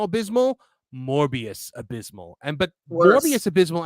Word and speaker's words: Morbius: it's below things like morbi morbius is it morbius did I just say it right or wrong Mor morus morbius it's morbius it's below the Marvel Marvel is it below